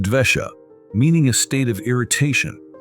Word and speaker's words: dvesha: one of these states vesha which means anger but in Sanskrit it is pronounced dvesha meaning a state of